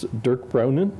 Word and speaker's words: Dirk Brounen: is I'm going to mispronounce his name he'll pronounce it correctly when he gets Durk brownin and he's going to speak on the economics